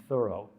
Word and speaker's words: Thoreau: also transcendentalists like emerson thoreau who pronounced his name thorough and w.h shannon who